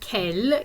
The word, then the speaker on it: quelle: You see quel, Q-U-E-L, and quelle, Q-U-E-L-L-E. They are pronounced in exactly the same way, but they have the same meaning.